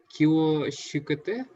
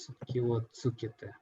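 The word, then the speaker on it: 気をつけて: How kyo shukete? Tsukete. This pronounced like tsu. Tsu. Kyo tsukete. Yeah, like kyo tsukete.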